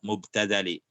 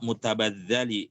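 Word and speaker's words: مبتذل: irdi al-mubtadali mestinya ya, ba dulu baru ta mestinya. Kalau ba itu baru dia ini dibacanya mubtadali. Kalau tak duluan jadinya mutabadzali. Tidak ada istilah mutabadzal ini, yang ada adalah ird mubtadal.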